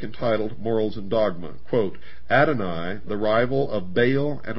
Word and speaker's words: Adonai: Adonai also spelled, well, in the first place here it's spelled A-D-O-N-A-Y, and he says Adonai, also spelled A-D-O-N-A-I, is the Hebrew word for God.